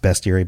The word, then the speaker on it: bestiary: It's pronounced bestiary, but it's about beasts.